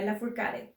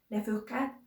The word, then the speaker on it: Lafourcade: And for closing up, drawing inspiration from Julieta Venegas, we have Natalia Lafourcade. I have always thought that her last name is French, so it should be pronounced something more like Lafourcade, but I don't think